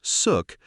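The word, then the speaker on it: Xuc: Born in the 1940s, the name suk, pronounced suk, comes from the quirky shook shook sound made by the clarinet in traditional folk music.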